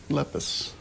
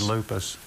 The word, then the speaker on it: Lepus: Because you mispronounced the genus. Lepus. Yeah. Lepus. You said lupus.